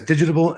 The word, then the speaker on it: Digitable: It is, yes, Digitable.